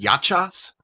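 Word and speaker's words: yahcha: They do tell you that they're pronounced yachas.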